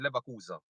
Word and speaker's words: Leverkusen: So the lever would have not pronounced as our E would have pronounced in English. All right, so that's why I've said Leverkusen because it's the E that changed the whole context of how you pronounce the word.